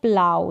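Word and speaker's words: plough: ये है प्लाव, इसका उच्चारण देख सकते हैं, प्लाव करके है, GH साथ में है तो साइलेंट है, ये इसका उच्चारण हिंदी में।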